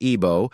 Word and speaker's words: Igbo: The Igbo people, pronounced Ibo, are one of the largest ethnic groups in Africa, numbering over 30 million.